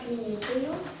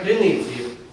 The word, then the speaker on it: криницею: так під хрою над клініцею не над крини не над клініцею а над криницею цею е лю скажіть